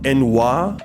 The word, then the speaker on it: ennui: Like there's anxiety, there's envy, there's embarrassment, ennui, in May, you know what, my words aren't